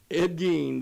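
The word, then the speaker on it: Ed Gein: And we're talking about Ed Gene. Isn't that how you say it? Gee. Gee. Yes, sir. Ed Gene.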